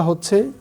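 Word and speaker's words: ح: মনে রাখতে হবে এই হাটা এখানে ব্যবহার করা যাবে না। তাহলে আমরা কিভাবে ব্যবহার করব? আমরা যখন এই হা উচ্চারণ করব কিছুটা গলার মধ্যে চেপে আসবে। হা ঠিক এরকম আসবে।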